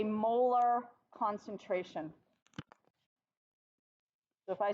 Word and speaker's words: molar: moles per liter and it is pronounced molar like the tooth so if I say molar I mean moles per